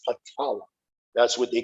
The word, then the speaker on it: Patala: Some pronounce it Atala, but it's Patala.